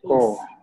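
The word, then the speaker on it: œuf: Is there letter S? No? We say oof. Oof. Okay. Okay. Oof. Egg. Oof. So with S, it means eggs. Eggs. Oof is eggs. For making omelette, huh? Okay. Oof is eggs.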